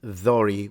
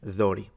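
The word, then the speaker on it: δόρυ: If you want to say it in Greek, it's Dori with the T, so the D is pronounced like the TH in father, Dori.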